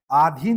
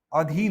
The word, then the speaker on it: अधीन: आीन नहीं होता है। अधीन होता है।